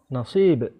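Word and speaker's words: نصيب: Oh, berarti dibacanya, Ustaz. Nasib. Oh, nasib. Iya, nasib. Nasib itu kan bahasa Indonesia ada juga toh. Nasib. Nasib. Nasib ya. Sama dari bahasa Arab itu nasib.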